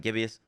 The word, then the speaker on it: gibbous: is the waxing gibbous I was pronouncing that wrong before it's the waxing gibbius or gibbous sorry um but this reads